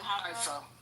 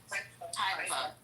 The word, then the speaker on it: Haifa: Is it Haifa? Haifa.